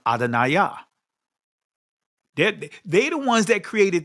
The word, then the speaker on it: Adonai: But like I said, in ancient Hebrew, it's pronounced Adonai.